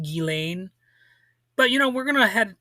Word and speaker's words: Ghislaine: I have been told that it's pronounced Gilain, but you know, we're gonna head we're gonna